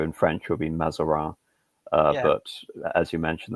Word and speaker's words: Mazarin: It's Uh, Italian name, but as with a lot of French history, you tend to have a lot of Frenchified Italian names. So in French, it will be Mazarin, yeah, but as you